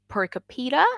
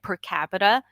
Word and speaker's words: per capita: for example um i heard a guy say percopita and i was like what kapita are you